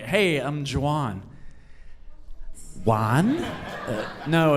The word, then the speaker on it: Juan: like hey I'm JaJuan one no it's it's Italian it's spelled like like why it's spelled like one but if you pronounce a J because it's Italian shouldn't it be one I don't know lady